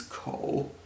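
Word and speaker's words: 口: So here on the left, we have this simple square, which means ko, also third tone, and ko means mouth.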